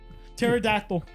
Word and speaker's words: pterodactyl: like I don't understand silent letters pterodactyl there's a p why why put pterodactyl